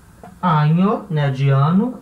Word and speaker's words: año: Se diz el año. Então, ano em espanhol, año, tá? E ano bissexto? Como é que eu digo ano bissexto em espanhol? É año, né, de ano, e bissexto.